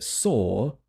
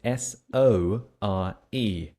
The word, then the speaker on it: sore: my muscles are s it's the same pronunciation but it's a different word with quite a different spelling so it's more easy